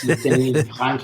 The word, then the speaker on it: Denis: By the way, it's Denis with a silent S because he's Canadian and French. Yes, Denis.